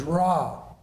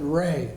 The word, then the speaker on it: Ra: dominant of them is raw sometimes it's said Ray but it's our a is the typical uh pronunciation of the Egyptian sun